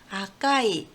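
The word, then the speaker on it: 赤い: 그 다음 한자는 아까이, 네, 아까이.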